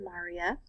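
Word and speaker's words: maria: one are called the Maurya that's how you pronounce it Marya these are dark flat areas that are on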